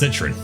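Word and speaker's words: Citroën: That's a New Zealand accent. That's literally how you would pronounce that word with a New Zealand accent. So that's not me like trying to like do something special with it. I am just pronouncing it as Citroen.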